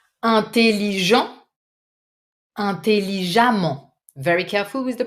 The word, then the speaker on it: intelligemment: Intelligent, intelligemment. Very careful with the pronunciation. Vous écrivez E-2-M-E-N-T. You pronounce this E as if it was an A. Intelligemment. Do not doubt. It's really an open A.